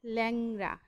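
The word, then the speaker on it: ল্যাংড়া: যেমন লেংরানা কি হবে? ল্যাংরা। এখানে কিন্তু প্রথমে লয়ের আগে একার আছে, কিন্তু আমরা বলছি এটাকে ল্যাং, মানে প্রসারিত করে বলছি, এর মতো করে বলছি, ল্যাংরা।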